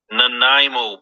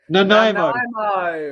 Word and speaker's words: Nanaimo: Brian, you pronounce it Nanaimo bar. Nanaimo.